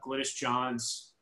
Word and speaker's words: Glynis Johns: Sara, he's wondering how accurate or not the role of Glynis Johns, am I pronouncing that correctly, Sara? I think so. Yeah, that sounds right.